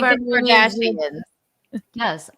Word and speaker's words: Kardashian: All Like of the Kardashians. Yes, all Armenians' names rhyme with Armenian.